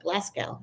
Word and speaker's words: Glasgow: following from Glasgow is that the how you pronounce it Glasgow yeah Glasgow well that's Scotland isn't it oh